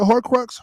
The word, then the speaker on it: Horcrux: It's like a hercrux or whatever. How you say it? Horcrux.